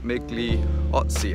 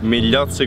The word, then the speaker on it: Migliozzi: I've been here for a couple of days filming with one of our brand ambassadors, Guido Migliozzi, I think his name is pronounced. Migliozzi Guido.